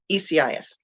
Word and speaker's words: Isaias: uh the hurricane and i'll probably totally mispronounce it because i could think it was isaias i have a grandson named isaiah but this is i isiah i think hopefully i pronounce the ecis ecis there we go that's right and um